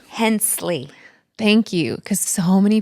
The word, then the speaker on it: Hensley: I want to settle the debate on how your last name is pronounced. Hensley.